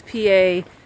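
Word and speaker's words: Pa'rus: We're doing, we don't know how to say it, Perus Trail, I don't know. Anyway, it's PA''RUS.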